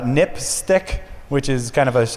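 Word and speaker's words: NPSTC: safety telecommunications commission um which is pronounced uh nip stick which is kind of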